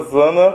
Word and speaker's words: Zana: Nós estamos na metade do nosso percurso e vamos começar hoje com a escritora Zana Ferreira, né?